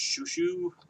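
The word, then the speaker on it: Xiu Xiu: or something uh x-i-u-x-i-u which i believe is pronounced shushu um i believe you're out of california uh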